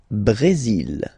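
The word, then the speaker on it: Brésil: it's only mexic okay Brazil Brazil okay you will pronounce the final L here and then remember accent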